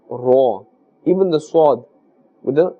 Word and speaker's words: ر: This Ra, remember to pronounce with a fuller sound. Do not say Re or Ra. With a fuller sound as Ra.